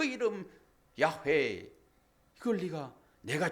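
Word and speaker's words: 야훼: 그 이름 여호와 야회 발음은 히브리 발음은 야회예요.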